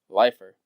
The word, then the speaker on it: Lifer: the pronunciation before continuing life with are on the end lifer then he continued for